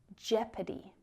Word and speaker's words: jeopardy: There's also a silent O in leopard and jeopardy.